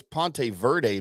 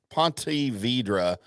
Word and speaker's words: Ponte Vedra: a big weekend Johnny in uh was it Ponte Vedra Beach or whatever it is out there we'll just call it Jacksonville that's a little I thought it was I always thought it was Ponte Verde Beach well you've never been really good at